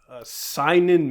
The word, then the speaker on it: seinen: If anything, this is like a seinen manga.